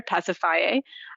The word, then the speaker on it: Pasiphae: tongue-tied over is actually Circe's sister, Pasiphae, but she has a 4-syllable name instead of 3 syllables, which is what I often hear people do.